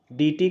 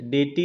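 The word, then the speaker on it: deity: जो भी है, डेटी होता है प्रोनाउंस जो है, डेटी, डेटी, हाँ डेटी या डीटी भी होता है। हाँ, डे फॉर डे, डेटी भी होता है या डीटी भी होता है। डीटी डीसी वाला डी। हाँ हाँ, मंडे संडे डे होता है ना, डे। तो डेटी भी होता है या डीटी भी होता है, दोनों प्रोनाउंस कर, दोनों सही होता है।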